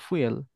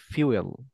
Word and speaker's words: fuel: কেন না, এখানে দেখতেছেন FUEL, ফুয়েল। নো, এটা আজকের থেকে মাথায় নিয়ে নেন, এটা কখনো কোনোদিন ফুয়েল হবে না। দেখেন আমি অক্সফোর্ডে আসি, অক্সফোর্ডে আসলাম Yes, এবং yes, হচ্ছে yes. ইউ ইংলিশ নিয়ে আসলাম। নিয়ে আসার পর এখানে আমি অক্সফোর্ডে পেস্ট করে দিলাম। এখানে তো মনে হয় ফু ফু হবে না। নো, ফিউয়েল, ফিউয়েল।